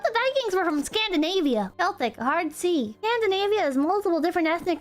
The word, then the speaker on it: Celtic: Celtic, hard C.